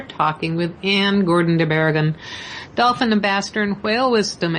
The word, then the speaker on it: Barrigón: We're talking with Anne Gordon de Barrigón, Dolphin Ambassador and Whale Wisdom Expert. Anne, am I pronouncing your last name correctly? You're really close, better than most, I will say. It's de Barrigón. Barrigón.